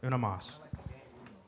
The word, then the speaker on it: Una Mas: Did I say it wrong? Una. Una. Not Uno. Uno. Una. Una Mas.